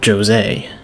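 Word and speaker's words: Jose: talk about the new characters let's talk about josée that's they pronounce it in game josée is the little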